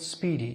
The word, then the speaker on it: SPDY: of all this protocol called speedy spdy pronounced speeding speedy is an experimental